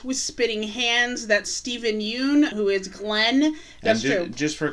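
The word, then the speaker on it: Yeun: spitting hands that stephen yoon who is glenn just for clarification it's pronounced yen that watch is supposed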